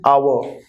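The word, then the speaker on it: hour: जैसे हमारे पास वर्ड है आवर। अब आर एक ऐसा वर्ड है जो एच से शुरू तो होता है, लेकिन एच साइलेंट रहता है, अ यानी वाउल की, हिंदी के वाउल की साउंड से शुरू होता है, तो इसीलिए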